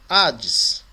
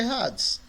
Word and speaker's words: Hades: A palavra Hades. A palavra Hades, ela tem uma aspiração áspera em cima do alfa. Então, quando você vai transliterar, ela vem com H.